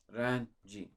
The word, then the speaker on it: Öğrenci: I did slightly, still kind of pronounce the yumuşak G, but it's not there. It's öğrenci. You've kind of have to extend.